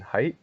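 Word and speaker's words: Haidt: about this is uh Jonathan height I think is uh how do you pronounce it it's h-a-i-d-t uh he's a social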